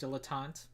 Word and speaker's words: dilettante: a uh at will you're telling me this isn't like a weird French word that has a weird pronunciation is actually pronounced like it's spelled no no no it's normally pronounced dilettante because I think so